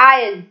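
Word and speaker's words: aisle: First one इज आयल. इसको pronounce कैसे करना है, आयल.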